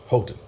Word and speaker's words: Houghton: Houghton.